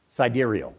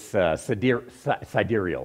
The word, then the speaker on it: sidereal: this thing called the sidereal. Did I pronounce it right? Every time I look at it, I want to say sidereal. It's sidereal, I believe, is the proper pronunciation.